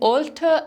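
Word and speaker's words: alter: Words, the difference between ऑल्टर एंड ऑल्टर। Okay, ये दो words हैं, इनकी प्रोनाउंसिएशन सेम है बट the meaning is different.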